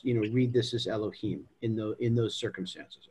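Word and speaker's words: יהוה: usually pronounce that yeah we usually read it as adonai but in certain contexts in particular when it follows directly after another name of god um we it's read as elohim okay and that's just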